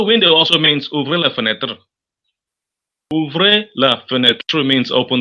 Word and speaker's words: fenêtre: The E, the last E there is not pronounced because in French, naturally, the last letters are never pronounced. A window is what? Fenêtre, fenêtre. Say fenêtre.